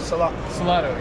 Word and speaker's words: Salotto: Found the Salotto guys. Am I saying it right? Salotto, yeah.